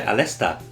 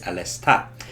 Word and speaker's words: Aleste: We also took a look at Musha Aleste, or Aliste, or Aleste, however you want to pronounce it, but the correct way is Alesta.